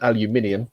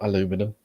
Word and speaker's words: aluminium: I got the transparent aluminium, not aluminum.